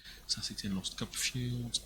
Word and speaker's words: Saesee Tiin: It looks like it's Saesee Tiin. No idea if I'm pronouncing it properly. Oh, it's pronounced right. Had someone talking about it earlier. I thought they said Saesee Tiin.